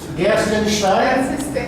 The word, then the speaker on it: Guertzenstein: Para abrir este ano, nós convidamos a professora Daniela Gershenstein, assim pronuncia? Gershenstein.